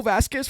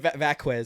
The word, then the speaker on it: Vazquez: Vazquez. Vazquez. Yeah. So I was like, it's fine. You know, he hasn't got time to pronounce a Z.